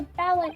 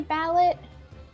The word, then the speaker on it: ballet: Like everyone was scouted for talented soul to ballet group. Did I say ballot? I mean ballet. I don't know why I said that. Because it's spelled that way.